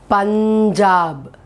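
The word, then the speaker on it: पंजाब: here this i will because of the dot i will pronounce it as punjab punjab okay in that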